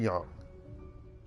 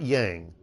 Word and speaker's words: Young: a name me sure call me Mr Young not Yang because you know not that name that everyone mispronounces of